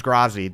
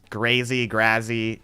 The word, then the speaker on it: Grazi: I'm looking for uh the official pronunciation is grazi because grazi comes from part of my real life name uh like it's part of my real name and that's how my name is pronounced like I can't change